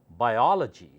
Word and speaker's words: biology: very carefully it's called biology biology biology biology anytime you see o l o g y that means study of that first o becomes o and louder or then legi biology psychology sociology zoology